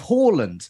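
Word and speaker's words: Haaland: we with harland because we use the correct norwegian pronunciation of horland so speak for yourself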